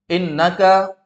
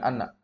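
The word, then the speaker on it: إنّ: atau innaka ini kaidah kalau ada qala maka yang datang setelah qala pasti Inna ya qala pasti Inna bukan anak Ya baik jadi Sesungguhnya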